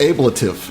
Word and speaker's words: ablative: find I found some ablative armor for the ship I also found it's uh pronounced ablative it's it's not but all right um